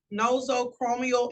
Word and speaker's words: nosocomial: Next in line, the word is pronounced nosocomial infection. This is an infection that is acquired while in a hospital or medical setting.